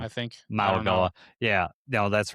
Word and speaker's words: Mauigoa: I always want to say his name wrong. I think Mauigoa. Yeah, no, that's right, Mauigoa.